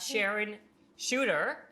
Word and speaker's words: Sharone Chuter: Not only do we have Sharon Chuter, right?